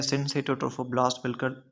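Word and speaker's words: syncytiotrophoblast: साइटोट्रोफोब्लास्ट एंड सिंशियोट्रोफोब्लास्ट, या जिसको हम बेसिकली बेस्ट प्रोनाउंस किस तरह से करते हैं, इट इज़ प्रोनाउंस्ड एज सिंसेटोट्रोफोब्लास्ट।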